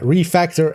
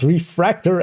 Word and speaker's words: refactor: And with the addition of refactor in the season um and it is yeah refactor and not refractor as I as I myself as well quite often say it wrong but so yeah excuse